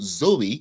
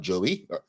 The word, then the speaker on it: Zoe: for a while, and people started mispronouncing my name because of it. Okay. So Zoe, not Joey, Thank you.